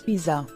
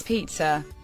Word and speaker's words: pizza: India and neighboring countries most people pronounce this incorrectly as Pizza it's Pizza repeat after me pizza